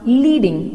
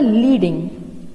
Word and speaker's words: leading: When line spacing is measured in points, it is referred to as leading, a pronounced leading. Okay, it will pronounced as a leading.